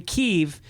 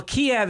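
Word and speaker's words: Kyiv: far and i'm saying kiev because that's the ukrainian pronunciation why is everyone saying well kiev is the russian pronunciation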